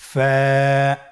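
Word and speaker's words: ف: ফা হরফটি উচ্চারণের ক্ষেত্রে বারিক হবে এবং এক আলিফ টেনে পড়তে হবে। আপনারা আমার সাথে আবার বলুন ফা স্ক্রিনে দেখতে পাচ্ছেন ফা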